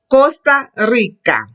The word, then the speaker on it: Costa Rica: Costa Rica. When the word begins with R, get a roll.